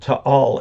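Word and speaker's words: Taal: the island CU that volcano keeps burping and to all is uh it's spelled ta a l and each a is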